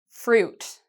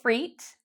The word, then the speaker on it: fruit: The pronunciation of this, fruit. Fruit. Okay. So not freet. A lot of students pronounce the I as a E sound. It's not freet. It's fruit.